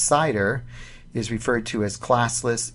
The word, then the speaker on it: CIDR: you with that address cidr pronounced cider is referred to as